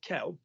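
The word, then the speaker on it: quel: joyous thing is that Kell um is always the same spelling is always the same pronunciation k k Kell k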